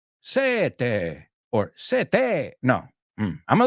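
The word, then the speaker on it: sette: For the double consonants, cuatro, sete, otto, try to make the sounds last a bit longer. The vowel sound before, after, or both.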